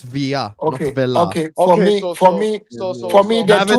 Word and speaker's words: Villa: love with football are Fernando Torres and David Villa. Those are the two. First of all, if you're a true Barcelonist, you would know it's pronounced via.